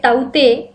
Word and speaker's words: Tauktae: Cyclone ताउते pronounced as a taute has got its name from Indian neighboring country Myanmar, which means gecko.